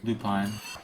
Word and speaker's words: lupine: Is that how it's pronounced? Lupine Lupine.